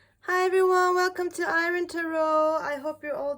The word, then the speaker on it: Aeryn: My name is actually pronounced Ayrn, but you can just say "", like "Man".